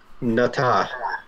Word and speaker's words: Nata: Nata.